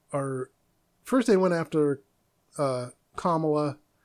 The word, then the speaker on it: Kamala: First, they went after Kamala. People were saying Camilla and throwing me off. Like, I knew I was saying it right the first time. I was like, Kamala.